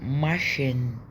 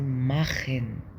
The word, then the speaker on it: machen: شخير] تمام تمام تمام لكن لو جا قبلها ا او بتتنطق خ تمام فهنا مش هنقول ماشين مش هنقول ماشين لو العاديه بنقول فهنا مش هنقول ماخن لا هنقول ماخن ماخن ماخن ماخن ماخن س ماخنزي